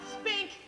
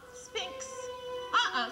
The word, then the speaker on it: sphinx: You're as tight-lipped as an oyster and as silent as an old Sahara spink. Sphinx, huh? Sphinx. Spink. You spell it with an X.